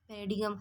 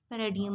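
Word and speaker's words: paradigm: हम तो इसको पैराडिगम पढ़ते हैं ना, लेकिन अगर आप इसी पेज के सेकंड पैराग्राफ की लास्ट वाली लाइन पर आएँ तो यहाँ पे इसने बताया है कि इसकी प्रोनाउंसिएशन यहाँ पे पैराडियम होगी।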